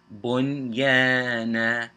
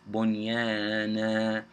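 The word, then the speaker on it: بنيانا: Now if you pay attention, bun, that's your ending. It's all one word though, but it's syllables. Bunyana. So that noon sakin, bun, and then you got the yan after it.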